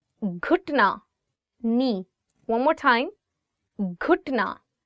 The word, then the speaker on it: घुटना: घुटना, knee. घुटना, knee. One more time. घुटना. So it is gaf and you're adding it with he and it becomes g.